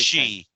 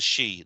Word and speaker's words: Sidhe: she. It's spelled Sidhe. The she, which is the spirits, Yeah.